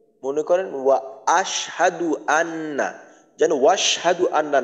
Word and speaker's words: وأشهد: করেন وأشهد أن যেন وأشهد أن না হয় এই হামজার উচ্চারণটা যেন বাদ না যায় যদি মনে করেন বলি وأشهد তাহলে কিন্তু হামজার উচ্চারণটা বাদ হয়ে যাবে তো এখানে বলতে হবে وأشهد وأشهد أن আবার এইখান